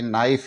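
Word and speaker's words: knife: इसका उच्चारण नहीं करके एन आई एफ इ नाइफ इसका उच्चारण करेंगे नॉलेज में के एन ओ डब्लू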